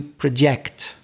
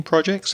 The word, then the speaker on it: project: project for next year so the vowel sound changes to the schwa sound the uh that really lazy sound when it's a verb what do you project for next year are